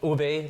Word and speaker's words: ube: How do you pronounce this? ube ube lavender and coconut flavored drinks.